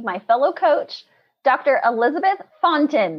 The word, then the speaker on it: Fontaine: Yeah, so I'm glad that you were able to pronounce my last name pretty good, Fontain. So everybody knows that this is a French name.